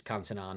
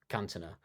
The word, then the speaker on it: Cantona: But we kind of came to the conclusion that he wouldn't be saying it right if he said it, because it's Cantona, not Cantona. But I will say this, Alex.